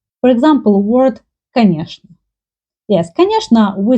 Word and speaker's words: конечно: There is a rule in Russian language when instead of чны, they pronounce like шны. For example, word конечно.